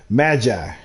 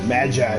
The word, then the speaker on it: Magi: God all right so Magi imagine trials I was saying Maggie and I didn't think that sound right what the man and now do I have the correct pronunciation I can continue all